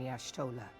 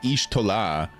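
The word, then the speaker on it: Y'shtola: Yashtolah. Yashah man bears part of the blame for the primal's existence. Bro, that pronunciation was so much different than my ishtoah.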